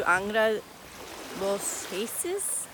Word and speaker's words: Angra dos Reis: So I made my way out to Angra dos Reis, more or less is how you say it, which is farther down the coast, heading south.